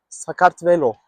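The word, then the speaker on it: Sakartvelo: In their own language, Georgia is pronounced "Scart Velo."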